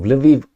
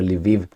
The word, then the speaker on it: Lviv: the direction of the Lviv region, or Lvov. Lvov depends how you want to pronounce it, Russian or Ukrainian.